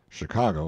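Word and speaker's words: Chingachgook: his acute Indian experts chingakuk pronounced Chicago I think has lost the trail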